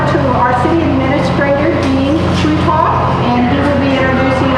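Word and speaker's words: Kruithof: For those of you that don't know me, my name is Dean Trutoff. I'm the city administrator here in Branson. Last name is spelled K-R-U-I-T-H-O-F.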